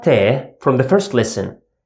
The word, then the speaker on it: ت: It's exactly English T sound, T. Here, it represents the soft pattern, T. And whenever we pronounce a soft pattern sound, we always smile. T. Look at my mouth. T. T.